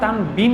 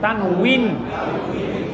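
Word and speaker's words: تنوين: তানউইন আসল উচ্চারণ তানবিন না, কিন্তু তানউইন, ওয়াজের উই, তানউইন, তানউইন, তানউইন।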